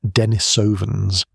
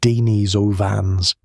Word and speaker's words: Denisovans: We named them Denisovans, pronounced Dee-nis-o-vans, and then spent 15 years knowing their genome without knowing their face.